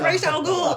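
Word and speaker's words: Ra's al Ghul: mispronounced rae chalgool ghoul it is racial ghoul it's not ross it's race and two different actresses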